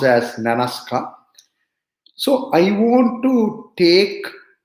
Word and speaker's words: Nanaska: it's pronounced as nanaska it's pronounced as nanaska so i want to take little time from